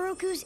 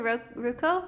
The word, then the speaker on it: Roku: You're Avatar Roku's animal guy. Oh, so he's like the Appa for the Fire Nation for the old Avatar. That's so cool! Is he gonna take him somewhere to talk to Roku?